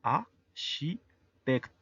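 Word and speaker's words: architecte: La primer E, aunque no está acentuada, está antes de una C. Hay algunas consonantes que estando al final de la sílaba hacen que la E tenga sonido. En este caso, la pronunciación sería A, she, tect. La última E, por estar al final y no estar acentuada, es muda. El siguiente ejemplo, fotógrafo o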